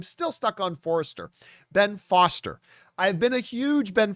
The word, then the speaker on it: Foster: of my men but instead of saying ben foster i kept pronouncing it ben forrester i don't know why i did that but yes it is definitely uh ben forrest or foster see i just said